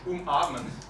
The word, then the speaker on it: umarmen: Auch auf Deutsch, umarmen. Yeah. Umarmen. And but in German, umarmen is umarmen. Yeah, it's in glottal stop.